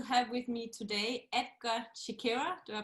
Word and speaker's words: Chekera: So I am so excited to have with me today Edgar Chekera. Do I pronounce that right?